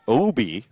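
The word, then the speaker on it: Aube: and the Oaks Connor OB like obi-wan Kenobi obi-wan Kenobi even though it's spelled Bob a ube the centerfielder I think the first time I thought I said boo bee so Bob is probably a little bit better Obi takes a strike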